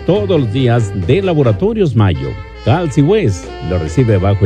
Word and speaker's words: Mallo: Les saludan los Rieleros del Norte para decirles que aquí donde canta el gallo está Laboratorios Mayo. Y Mayo se escribe como gallo, LLO, Laboratorios Mayo.